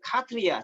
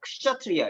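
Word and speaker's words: क्षत्रिय: 이제 요걸 원래는 카트리아라고 그러니까 읽는 방법이 세 개인데 이거 인도 지역마다 좀씩 달라요. 카트리아, 차트리아, 크샤트리아 이렇게 있거든요. 근데 카트리아로 읽는 게 가장 그 일반적이라고 하더라고요. 근데 우리는 보통 이제 크샤트리아로 알고 있으니까 크샤트리아라고 발음해도 상관이 없죠.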